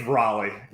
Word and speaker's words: Raleigh: Is it Raleigh? It's Raleigh.